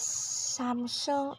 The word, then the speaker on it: Samsung: let's talk about Samsung it is samung in both accents with the stress in the first syllable next is L'Oreal stressing